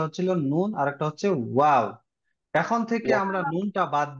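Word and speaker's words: وَ: ওয়াও জবর ওয়া। ওয়াও জবর ওয়া। হ্যাঁ, এটা খেয়াল রাখতে হবে, আমরা ওয়া উচ্চারণ করেছিলাম দুই ঠোঁট গোল করে শুরু হবে, তাই না?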